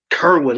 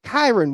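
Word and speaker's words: Kyren: Kerwin, like a Kermit the No, the fuck Kermit it's Frog not. here. Look at Kyron. Kyron Williams, not Kerwin.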